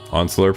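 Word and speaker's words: Once-ler: I actually know about classic literature, but I've only heard of the Lorax Onsler. Pron, how do you pronounce it?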